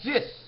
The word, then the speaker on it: dix: two of a kind in French they say the word 10 as dis but it looks like a Dix this is the fourth